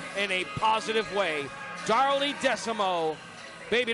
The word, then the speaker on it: Desamot: Darlie Desamot, baby, don't you dare forget the T is silent.